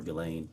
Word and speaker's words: Ghislaine: Um as best as we know it's been publicly reported that in a 2024 uh Ghislaine Maxwell or Ghislaine I think is how it's pronounced, arranged and wired uh